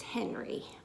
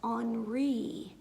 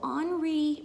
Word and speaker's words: Henri: a French artist so when you live in France you pronounce things a little bit differently than you do here in Ohio so his name is pronounced onry and his last name